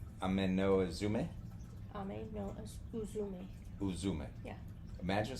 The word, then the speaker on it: Ame-no-Uzume: Then there is, and I know I'm not going to pronounce these right, another goddess. Ame-no-Uzume. Ame-no-Uzume? Ame-no-Uzume.